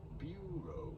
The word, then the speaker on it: bureau: In English, it is usually pronounced as bureau. You do want to stress on the first syllable, the bu syllable.